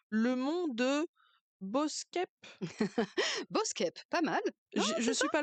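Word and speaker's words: Boeschepe: Et puis si on on pousse un petit peu, alors là, j'ai peur de mal prononcer le Boskep. Boskep, pas mal.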